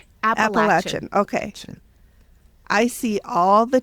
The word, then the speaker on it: Appalachian: First of all, am I saying it right? No. How do you not. say it? Appalachian.